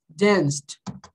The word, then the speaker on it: danced: É, não, não é assim. É assim, olha. Danced. Assim, ó, danced. Ok? Termina com ED.